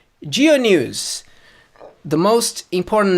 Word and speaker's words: Dyo: it's written DUI oh that's that's how you pronounce my last name geo news the most important name in the news